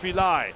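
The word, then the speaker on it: Filaj: That's F I L AJ pronounced Feli.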